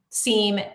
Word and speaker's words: SIEM: because we have an integrated seam or Sim however you pronounce it want to pronounce it and then a so